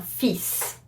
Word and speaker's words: fils: A son is gonna be un fils. So you would have to pronounce the S here, for example, at the end, which is very confusing.